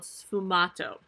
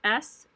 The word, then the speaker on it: sfumato: This is a new artistic technique called sfumato. And I will spell that for you as well. It is Sfumato, sfumato.